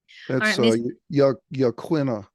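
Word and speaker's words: Yaquina: of what's considered murder Y Yak quinna is how that's pronounced Y Yak Quin Lighthouse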